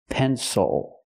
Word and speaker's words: pencil: It is not pronounced with the I sound because the stress is on the first syllable.